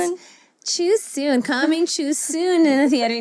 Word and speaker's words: Chiu-Soon: Chiu-Soon. Tama ba? Tama Not bang too pronounce? soon. Chiu-Soon.